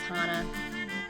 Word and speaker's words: Hannah: right hi I'm Hana it looks like Hannah but it's pronounced Hana yeah and I'm a